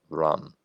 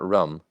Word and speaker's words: Ram: It looks like Ram, R-A-M, but it's pronounced Ram. Not rum, Ram.